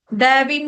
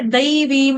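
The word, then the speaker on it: दैवीम्: ठीक था फिर आपका दवीम नहीं है दवीम है दो मात्रा जहां पे होंगी वहां पे द बाकी ठीक था ठीक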